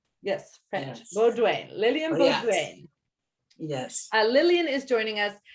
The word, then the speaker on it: Beaudoin: everyone who is tuning in today, this is, okay, I'm going to butcher the spelling of how your Okay. last, can you, Lillian Beaudoin. Beaudoin. Yes, French. Yes. Beaudoin.